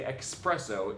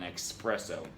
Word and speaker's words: espresso: There's no X in espresso, period. Be particularly careful not to say espresso if you do any business with Europeans.